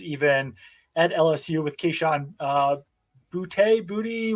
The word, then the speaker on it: Boutte: at LSU with Keyshawn Booty. What's the pronunciation? Everyone has a different pronunciation. I think it's Boutte. It could be Booty.